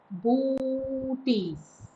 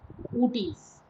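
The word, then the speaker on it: Boötes: The correct pronunciation is booties, booties, with O pronounced separate and stressed on the second syllable.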